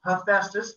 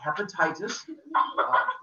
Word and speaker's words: Hephaestus: guys pronounce creepy again hephaestus not hepatitis the the god of diseases just like the next one over there is hermes not herpes the other god diseases and